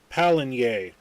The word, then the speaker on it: Pallegney: to let you know this is uh palen or I used to pronounce it PG until crofter corrected me um this is a